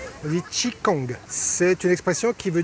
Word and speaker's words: Qigong: Bonjour Jackie, vous serez mon prof de Qigong, je prononce bien ? Oui, Qigong, c'est une expression qui veut dire simplement le travail de l'énergie.